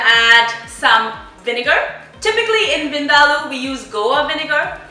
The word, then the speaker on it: Vindaloo: That's the correct pronunciation of the dish. It's not Vindaloo, it's Vindaloo.